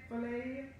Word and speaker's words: philia: Philia? Philia, what's these different names of love they have? Y'all know, y'all just, in other words, that's self-love. It's called, it's P-H-I-L-I-A. Oh, philia. Thank you.